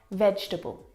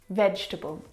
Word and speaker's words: vegetable: the first word is vegetable vegetable now this word is a challenge because it looks like there should be four syllables in this word vegetable but there's not